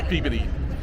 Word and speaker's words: Peabody: the Peabody, we have to say it right, Peabody, the Peabody Museum. And then we have some other stuff planned. Hang on. I think of it, the way to remember to say it, I think puberty. Peabody, right?